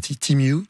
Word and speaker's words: Temu: ça veut dire ou comme temu qu'on prononce aussi timu ces deux là ont